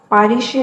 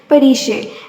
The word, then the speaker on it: پریشے: اس نے اپنے یورپی لب و لہجے میں اس کا نام دہرایا۔ پاریشے نہیں، پریشے۔ میرے نام کے پیچھے کیوں پڑ گئی ہو نشا؟